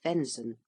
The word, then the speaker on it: venison: or govern Gover in Council of Rome venison pronounced venzon the Flesh of deer cleric a clergyman Abbot